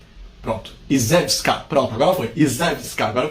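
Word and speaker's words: Iżewska: Pronto, Izewska, pronto, agora foi, Izewska, agora eu pronunciei certo.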